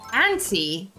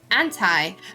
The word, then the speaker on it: auntie: Aunt in auntie, pronounced like ant. Like auntie. Auntie? That sounds like anti. Do you say, see, that's another question. Do you say anti or do you say auntie?